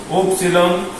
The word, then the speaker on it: upsilon: Upsilon, hay libros donde la van a conseguir como Ypsilon, y muchas veces la pronuncian como I. Pero nosotros la vamos a pronunciar como una U, ¿ok?